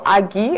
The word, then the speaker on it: Agi: discuss this is Victor Agi. I just got to learn that the proper pronunciation of that surname, so I will fly with it.